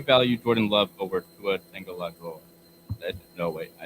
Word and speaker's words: Tagovailoa: Do you value Jordan Love over Tua Tagovailoa?